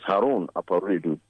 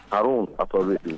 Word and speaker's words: Harun Aparedu: Let me correct the pronunciation of my name. The name is Harun Aparedu. Harun, thank you. Harun Aparedu.